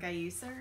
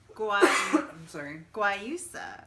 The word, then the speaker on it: guayusa: Gayusa or something. And then organic... Oh, it tells you how to say it right here. Oh. Guayusa. You were close.